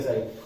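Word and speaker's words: psi: है इसको बोलते हैं पी साइलेंट होता है साई, इसके लिए मैं लैंग्वेज का इस्तेमाल कर रहा हूं साई, इसके लिए करली।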